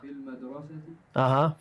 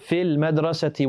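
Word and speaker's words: في المدرسةِ: fil madrasati. Fil madrasati. We don't pronounce the ya on fi, and we don't pronounce the lam or the alif on al madrasa.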